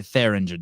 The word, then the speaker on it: Thieringer: Pronounce like Derringer, not Ringer. Okay, the Theringer.